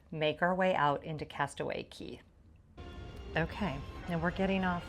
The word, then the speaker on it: Castaway Cay: Yes, it is spelled Castaway K C A Y, but it is pronounced Castaway Key.